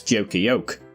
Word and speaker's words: Duke of York: quick one at the Joker York. Now I always pronounce this Joker Yoke, but each to their own.